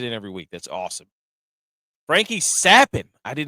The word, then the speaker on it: Frankie Capan: lineup it's G to look like it is Frankie capan but it's actually pronounced Frankie sappin and that man is going to carry you